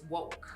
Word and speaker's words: WWOC: media yes um but it's pronounced woke we're like Tarjay and Target come on it's not just wwoc it's woke right because we're waking